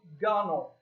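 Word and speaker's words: gunwale: Belle gun whale but it's pronounced gunnel that W is silent and ain't gonna get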